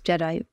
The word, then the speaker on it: GEDI: By the way, the fund is called GEDI, Gender Equity Diversity Investments, GEDI, a soft G.